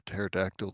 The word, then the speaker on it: pterodactyl: A pterodactyl that will never hear in the bathroom because the key is silent.